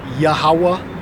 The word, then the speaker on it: Yahweh: All right, Yahweh is how we pronounce it.